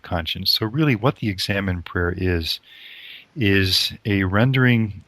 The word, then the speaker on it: Examen: for the future now this word examine itself is just the English pronunciation of the Spanish word that st. Ignatius used for this form of Prayer examine in the Spanish and we just say examine and in a present